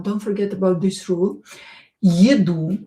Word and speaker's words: еду: Еду. Е not stressed. Pronounce as и.